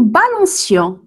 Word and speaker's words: balancions: « Il se balançait », »,« nous nous balancions ». Ici, on a enlevé la cédille parce que tout simplement, le C, il est suivi d'une voyelle I. Donc, il se prononcera automatiquement C.